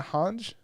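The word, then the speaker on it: Hange: three uh uh uh hanj I think that's how you actually say her name it's supposed to be like a German name whatever Zoe I guess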